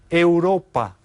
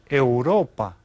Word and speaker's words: Europa: spelled the same as in English but it's pronounced a little bit different Asia okay and then we have Europa Europa right again it looks a lot like EUR